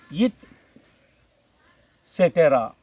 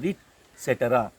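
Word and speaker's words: et cetera: Focus here, etc., which is from French expression it cetera.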